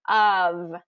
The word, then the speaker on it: of: very common word but really it should be spelled UV because it's that's exactly the sounds that are being said there of of which of these